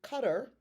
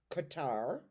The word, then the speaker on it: Qatar: Okay, spirit did cutter, which is how you pronounce it, not Qatar, but okay.